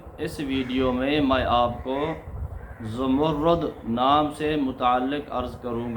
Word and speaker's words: زمرد: رکھیں، زمرد زا کے اوپر پیش، آگے میم کے اوپر پیش اور را کے اوپر تشدید اور اس کے اوپر پیش، یعنی را مشدد ہے اور اس کے اوپر پیش آئے تو اس کا تلفظ بنے گا زمرد۔ زمرد زا کے اوپر بھی پیش، آگے میم کے اوپر بھی پیش، آگے را مشدد کے اوپر بھی پیش اور آخر میں دال زمرد، یہ اس کا تلفظ ہے اور اس کا معنی